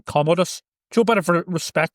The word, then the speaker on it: Commodus: Commandus, whatever his name is. Commodus. Commandus. See, they pronounce. I see Commandus, but it's pronounced something different.